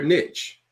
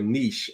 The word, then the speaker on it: niche: you got to choose your Niche or Niche I should say it's the proper way to say it you want to